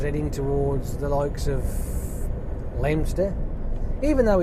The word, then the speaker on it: Leominster: Sort of like, I've got a feeling I was heading towards the likes of Leominster, even though it's spelt Leominster.